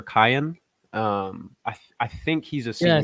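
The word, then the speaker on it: Kiyan: His name is, I want to say it's pronounced either Kian or Kyan.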